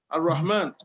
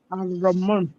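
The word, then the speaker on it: الرحمن: Ar-Rahman. Ar-Rahman. You have to pronounce that H.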